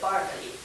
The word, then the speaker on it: Berkeley: I pronounced it Barclay in England.